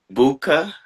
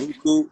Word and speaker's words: Buku: So is it Buka, Buku. Buku, Buku, Bu, Buku, right? Buku, and Yes. then the last part. Yes. Buku. Yes.